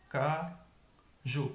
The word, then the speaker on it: caju: Então aqui eu tenho sofá, mais forte, fá. Café, mais forte, fé. Caju, mais forte, ju.